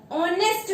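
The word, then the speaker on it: honest: बट इसमें हम लोगों को क्या देखना है, प्रोनाउंसिएशन। हम इसको क्या बोलते हैं, ऑनेस्ट मैन। ऑनेस्ट मैन बोलते हैं ना, तो ऑनेस्ट किससे शुरू हो रहा है, ये, और ये हमारा क्या है, स्वर है।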